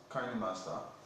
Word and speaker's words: KineMaster: And actually, I started using KineMaster, which is pronounced KineMaster, some few years back, let's say 4 or